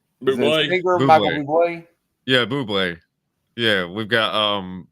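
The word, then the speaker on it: Bublé: I think it's the correct pronunciation. Buble. Michael Buble.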